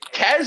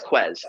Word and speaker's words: Ques: Is it Kez or Quez? Because I think I've been pronouncing that shit wrong. It's Quez.